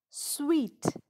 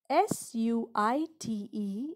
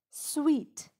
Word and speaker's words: suite: poem my shadow poem sweet s-u-i-t-e is pronounced as not suit but sweet what is a suite